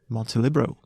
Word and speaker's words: Montelibero: my first question is do you do you say Monty libero or Monty Libro because Libro I've heard it said it's it's spelled Monte libero right how do you say it montelibro multilibro okay right because I was saying montelebro without the e but it kind of